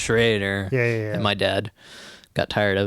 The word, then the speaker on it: Schraeder: people would always say schroeder even though the german pronunciation is Schrader my dad got tired